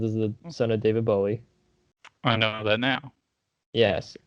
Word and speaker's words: Bowie: actually david bowie says that his name is pronounced bowie and that's just the last way i heard it every apparently everyone says bully and that's incorrect but it sounds cooler exactly